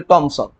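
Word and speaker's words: Thomson: আমি টমসন বলছিলাম কেন কারণ এটার উচ্চারণটা আসলে টমসন হ্যাঁ বিজ্ঞানীরা বাইরের দেশে যখন এটা উচ্চারণ করে টমসন উচ্চারণ করে আমাদের বইয়ের মধ্যে আর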